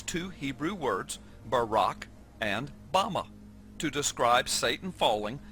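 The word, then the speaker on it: בָּמָה: in the Strong's Hebrew Dictionary, and it is pronounced Bama.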